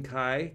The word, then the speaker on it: chi: it's really important so let's see if I'm pronouncing this correctly Kai Square Kai I'm saying chai I actually like chai